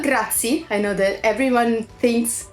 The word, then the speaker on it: grazie: to say thank you we say gracias no grazie I know that everyone